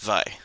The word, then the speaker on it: Vay: See, it's pronounced Vi.